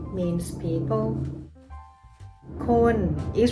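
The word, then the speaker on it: คน: foreign means people corn is pronounced with a flat tone you can tell your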